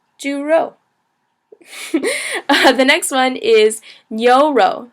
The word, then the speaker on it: 牛: The next one is 牛肉. So it's 牛肉, second tone, fourth tone. 牛 is kind of pronounced like ni and o, like oh, hit my knee.